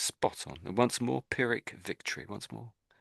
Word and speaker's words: Pyrrhic: So, so pirick victory. Pirick victory. You want to say that? Pirick victory. Oh, yes. That's spot on. And once more. Pirick victory. Once more. Pirick victory.